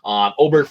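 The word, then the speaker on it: Åberg: like, but we're getting Aberg for $1,400 less. Oberg, God, I say it wrong every time. Oberg for $1,400 less.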